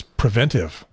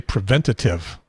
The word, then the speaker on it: preventive: that all right but there's a word that I'm constantly trying to prevent a shortage of a syllable of and that is preventive because everybody wants to say preventative why the extra syllable this is you different words another same word preventive preventive because one of them almost sounds like tater everybody likes taters well